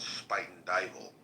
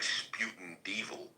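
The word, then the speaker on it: Spuyten Duyvil: Like there's a neighborhood in New York in the Bronx called Spite and Dal. But when you look at it phonetically it looks like sputin devil.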